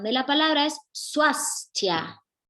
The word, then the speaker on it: Swásthya: de la palabra es su as ya no hay que olvidarse de esa s suecia bien seguimos entonces